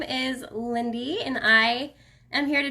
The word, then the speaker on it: Lynde: okay so recap so my name is lindy l-y-n-d-e that's how you say it lindy i get so many